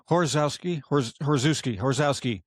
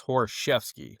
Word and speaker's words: Horoszewski: You know, I mean, if you go the old Polish way is Horoszewski.